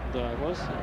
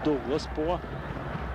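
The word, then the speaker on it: Douglas: Даглас. Ну, по-английски Даглас, а, конечно, он Дуглас по-португальски смотрим. Ну, точнее, даже бразильский вариант опять мы используем. Есть различия в произношении.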